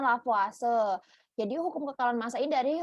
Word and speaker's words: Lavoisier: yaitu dari nama ilmuannya Kalau tulisannya bacanya kan lavoisier tapi cara bacanya lavase jadi hukum kekekalan massa